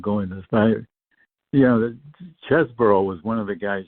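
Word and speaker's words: Chesebro: of the heang he he had a fight for his name has be pronounced chesboro because you know everybody's under the influence of Jack cheeseboro now and and and and I I don't think chesboro pronounced his name that way it was a player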